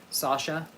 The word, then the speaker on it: Sascha: It's spelled Sascha, Sasha.